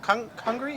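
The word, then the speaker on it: Congrí: Congri, is that how you say it?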